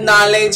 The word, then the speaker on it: knowledge: of the english language the word is knowledge knowledge it is not knowledge it is knowledge so english is very easy we know that when a k comes up to the end when you see a word that has k n the k is always always always silence i hope you enjoyed